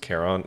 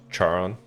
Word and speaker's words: Charon: 30s when I realized it was pronounced Caron and not Charon look okay I gotta